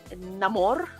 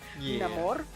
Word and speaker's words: Namor: in Mayan because the the civilization that uh namore which yes I'm going to pronounce it that way because that's how he pronounces it namore um is very Maya inspired it's like the